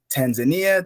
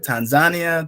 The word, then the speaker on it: Tanzania: Is it Tanzania, Tanzania, Tanzania? Depends on the pronunciation of a person.